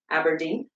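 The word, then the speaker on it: abrdn: see the new logo on screen there it's pronounced aberdeen so yeah not sure why but um this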